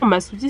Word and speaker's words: Masoutis: l'arrêt au magasin masutis voilà l'orthographe la prononciation masoutis c'est ce qui a écrit sur Google Maps ah ok maisprès en